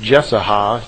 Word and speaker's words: Jesaja: spoke through the prophet, I believe it's pronounced Jesaja, J-E-S-A-J-A. Those of you who are into the history of this may know better than I.